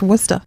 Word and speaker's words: Worcester: It's not said like it's spelled. No, it's like, It's definitely not also pronounced makes- Worcester. It's pronounced Worcester.